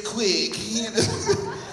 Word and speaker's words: Quick: name really is quick like video Bob said quick you ever met anybody named quick y'all just me yeah quick Q UI c k just like it's spelled man it it the